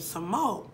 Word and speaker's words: Samoht: upon this man named Simone which was the T is silent but it's literally Thomas backwards so smug and he